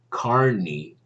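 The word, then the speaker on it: Kearney: etc i remember uh a famous philosopher named carney that's how it's pronounced i think it's spelled k-e-a-r-n-e-y i forget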